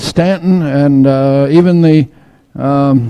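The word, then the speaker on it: Staunton: here in Stanton Virginia that's spelled s t a u n t o n which US Yankees call ston but they say Stanton so don't ever let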